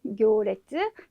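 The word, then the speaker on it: 行列: 행렬인데 발음이 교라고 해주셔야 돼요. 교.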